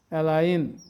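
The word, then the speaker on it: align: মানে ইংলিশ ওয়ার্ডের শেষে আই এনজি থাকলে উচ্চারণ হবে আইন foreign এলাইন resign ক্যাম্পেইন কন্ডাইন ফেইন choline এবার আমরা অর্থগুলো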